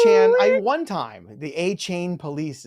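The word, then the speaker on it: Achane: these players and how to pronounce their names, which I also mess up. It's A-Chan, by the way.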